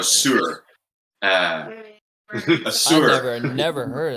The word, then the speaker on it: Suhr: a Sir, it's like it's spelled SUHR. A Sir, I think, or a Sur.